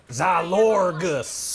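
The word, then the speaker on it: Xylourgos: Yeah, we're on Xylorgus. Is that how you pronounce it? Mitsu, what's the official word? Zalorgus.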